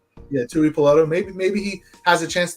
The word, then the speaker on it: Tuipulotu: Tuipulotu. Yeah, Tuipulotu.